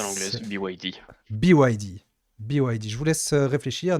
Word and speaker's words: BYD: Alors, je vous Prononce à laisse l'anglaise, BYD. BYD.